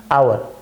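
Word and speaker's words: hour: यहां आवर लिखते हैं क्योंकि य एच साइलेंट रहता है उच्चारण होता है ओ का आवर जो क्या है वाल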